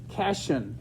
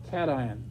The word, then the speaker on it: cation: to pronounce that word if they've never had chemistry they'll say passion like vacation but if you've been in chemistry they'll say cation get that all right